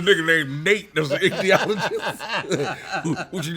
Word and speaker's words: ichthyologist: THY. THY, excuse me. Ichthyologist. Say that once more. Ichthyologist. Ichthyologist. Ichthyologist. Sorry.